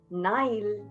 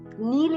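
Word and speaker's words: Nile: नील या नाइल? नाइल बोलते हैं ना, नील रिवर या नाइल नाइल रिवर.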